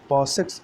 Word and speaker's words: PASSEX: सबसे पहले बात करेंगे पॉसेक्स या पैसेक्स, इसको कह सकते हैं, जिसकी स्पेलिंग है PASSEX।